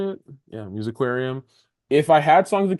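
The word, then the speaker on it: Musiquarium: Yeah, Musicarium.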